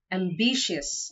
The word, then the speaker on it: ambitious: not severe it's severe the second word is ambitious and not ambitious the stress is on the second syllable ambitious the third word